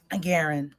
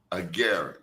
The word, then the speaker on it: Agarin: Agaren. Agaren.